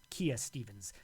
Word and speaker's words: Kia Stevens: We're looking for Kia Stevens. Or Kaya Stevens. How do you pronounce it? Kia Stevens.